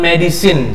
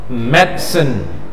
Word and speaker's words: medicine: artinya gunakan obat ini cara bacanya dulu jangan medicine satu salah yang kedua juga jangan medisain salah walaupun mentang-mentang chine jadi sign ikuti Ustad reog medsn nah cepatkan netizen nah jangan medicine salah ngomongnya gitu mereka us mesin